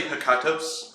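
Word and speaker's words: Hekatos: It's actually hecatos.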